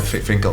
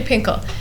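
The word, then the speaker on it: Fin.K.L: It's really funny because they don't even pronounce F and then they call it Finkle, but Pinkle. Yes, so it's actually Pinkle.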